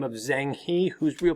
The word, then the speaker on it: Zheng He: exploration of a man by the name of Zheng He whose real pronunciation is Zhang hua and Zhang Hao goes out under the guidance